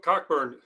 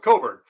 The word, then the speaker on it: Cockburn: uh curbelo and kofi cockburn i always say it wrong coburn at illinois those those